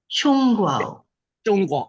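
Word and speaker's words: 中国: How do you pronounce it? 中国. Chongguo.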